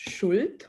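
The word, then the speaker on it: Schuld: drilling people down actually in german language uh depth is is pronounced shult which is guilt directly right and my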